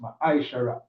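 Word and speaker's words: מעשר: It means tenth in the Hebrew and it's pronounced ma'aishara.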